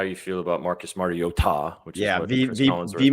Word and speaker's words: Mariota: you feel about Marcus Mariota, which is he mispronounced his name. It's Mario Ta.